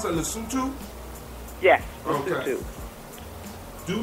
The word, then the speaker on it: Lesotho: Now, how do you pronounce that? Lesotho? Yes, Okay. Lesotho.